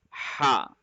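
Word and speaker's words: ح: I am saying ha instead it should be more sharp ha ha couldn't hear you couldn't hear you can you repeat it wow I think it's it's better as compared to the previous but still it is not sharp enough it should be ha ha you have to put pressure at the middle throat ha that's better good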